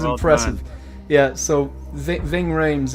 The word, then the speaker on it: Ving Rhames: Yeah, so Ving Rhames, it's a Congrats. very strange pronunciation, but we're one apiece.